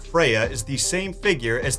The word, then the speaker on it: Freyja: or should I say Freyja, since that's closer to how her name was actually pronounced.